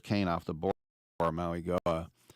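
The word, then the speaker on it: Mauigoa: off the board for Maui Goa. Right, Maui Goa. I keep forgetting that the G is pronounced like an N as well.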